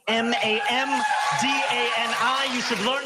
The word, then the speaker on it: Mamdani: And furthermore, the name is Mamdani, Mamdani.